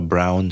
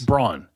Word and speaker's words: Braun: I use a brown shaver, like a Brown name? like a cordless shaver. Oh, you mean Braun? Yes. Braun. Is that how I pronounce it? Yeah, Braun, yeah. Oh, that's Braun. Yep.